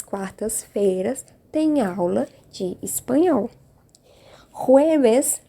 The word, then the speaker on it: jueves: Jueves, lembrando, palavrinhas com J, sempre tem som de R, então eu pronuncio jueves. Jueves e o Vzinho, som de B. J, som de R, V, som de B.